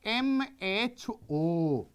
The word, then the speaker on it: mho: in the reverse order so if om you will pronounce and make it in the reverse way that is equal to your the m h o that is your the